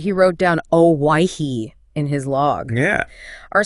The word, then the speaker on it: Hawaii: yeah our sources say cook probably heard something closer to the actual pronunciation Hawaii but you know that spelling yeah it reflects how English sounded way back then exactly back then W in English sounded more like why making why sound like why oh wow and